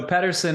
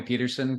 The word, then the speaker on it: Pedersen: So, Petterson is the Danish way to say it, but people call me Peterson cuz it's just, you know, living where I have for so long, it's just become